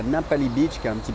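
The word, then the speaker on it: Ngapali: Du coup, je suis allé à Napali Beach qui est un petit peu la plus connue. Donc ça s'écrit N G A P A L I Beach.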